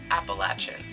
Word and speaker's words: Appalachian: Yes, Appalachian. I've been corrected too many times by people down in Appalachia that I will never again pronounce it any other way differently.